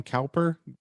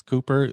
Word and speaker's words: Cowper: i know that cooper i keep wanting to call him calper but it's cooper the british pronunciation of that poet um cooper i know